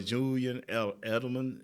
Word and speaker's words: Edelman: Because we don't even have a Julian Edelman, is I'm pronouncing that right?